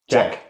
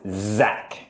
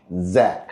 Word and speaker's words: Zach: actually call you Jack with a J. Yes. But what is the correct pronunciation of your name then? Correct pronunciation is Zach. Zack. Yes. Not Jack.